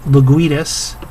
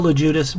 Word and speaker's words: Ludas: having a few beers it's Bill Le Judas that's Bill Ludas bill I apologize I